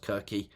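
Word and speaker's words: Circe: book Cersei came out but her name is pronounced kiry but anyway Cersei um the the witch who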